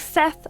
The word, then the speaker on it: Set: However, he was killed by his brother Set. Sometimes spelled like Seth, but apparently pronounced Set.